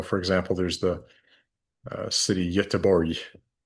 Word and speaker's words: Göteborg: So, for example, there's the city Göteborg, right? Not Göteborg, as you might want to pronounce it, Göteborg.